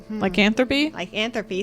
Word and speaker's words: lycanthropy: still be in have like in three likethropy like anthropy. Thank you. I can't pronounce words today.